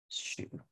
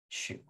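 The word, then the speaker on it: 恕: The word is pronounced shu, shu.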